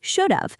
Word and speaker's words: should've: many people write it in fast natural speech should have contracts to should've the sound at the end of sounds identical to the word of so people hear should've